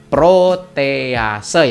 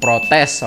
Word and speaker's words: protease: protease ya sahabat Tani jadi tulisan atau begini dibacanya protease ya sahabatnya jangan protes Oke enzim protease sendiri